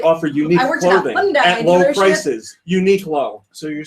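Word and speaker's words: Uniqlo: people that work there they said it was Unico yeah but you asked the Americans that work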